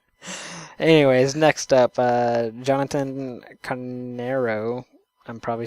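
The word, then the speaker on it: Carneiro: kyle guy whatever anyways next up uh jonathan canero i'm probably saying your last name wrong i'm sorry i believe that's right oh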